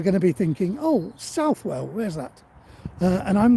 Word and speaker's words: Southwell: And Southwell, people around here do tend to call it Southwell.